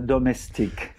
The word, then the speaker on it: Domestique: Let's see if Gabriel Gaté can lighten up on the pronunciation on the title of this program. Bonjour, Gabriel. Bonjour, and today I am a domestique.